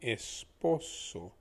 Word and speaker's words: esposo: this using english pronunciation the es just becomes the the word the letter s so it's pronounced as s the p o becomes bull the o again we'll keep working on that bit by bit but think about this think about saying oh no the o is basically the sound